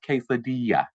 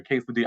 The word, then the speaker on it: quesadilla: the side and say, "Hey, Derek, baby, is pronounced quesadilla." Nobody ever did that. They was sitting there let me walk around looking like a damn fool calling it a quesadilla.